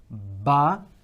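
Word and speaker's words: ب: We're going to look at Ba and Meem. These two letters are from the same articulation, from the same makhraj, okay? And they are pronounced from the same place, So they are pronounced from the lips, okay?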